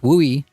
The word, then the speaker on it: WUI: of development in the Wildland Urban interface pronounced wui that some people move